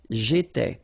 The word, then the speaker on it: étais: Remember, here we've got accent aigu, so it goes like et, all right? J'étais.